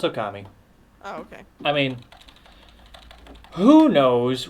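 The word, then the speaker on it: Ōkami: not okami no it's okami okay i mean who knows what it's actually pronounced in actual japanese but the the general accepted way of saying it is okami okay oh gummy so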